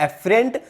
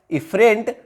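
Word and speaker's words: efferent: देखिए ये ई से स्टार्ट हो रहा है, ये ए पे। प्रोनाउंसिएशन आपको दोनों का सेम लग सकता है, लेकिन ये क्या है? ए से स्टार्ट हो रहा है, एफरेंट आर्टरियल। और ये दूसरा क्या है? इफरेंट arterial.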